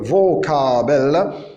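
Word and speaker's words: Vokabel: On remarque que vocabel, le fau, il ne s'est pas prononcé fau, mais il s'est prononcé v.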